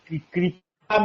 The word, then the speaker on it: कृपा: तो यह होती है ताता दोनों को एकही उच्चारण करते हैं हा अच्छा दूसरी चीज इसको गहराई में जाने प कपा में अलंग वाला र वाला कृपा सही है